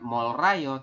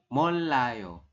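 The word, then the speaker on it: 몰라요: yang poin ini jadi kita bacanya bukan mol Rayo tapi molayo seperti itu Sampai sini bisa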